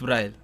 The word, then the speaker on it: Bri: say B br br just don't say like that just don't add Lee it's Bri yeah I know it's